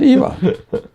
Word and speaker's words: Ivan: His first name was spelled the same as mine, Uh-huh. but he pronounced it probably. mispronounced. He pronounced it Yvonne.